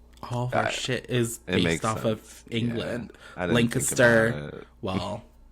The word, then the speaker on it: Lancaster: Lancaster.